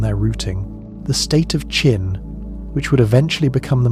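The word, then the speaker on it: Qin: China is widely believed to derive from Chin, pronounced roughly as Chin, was considered somewhat rough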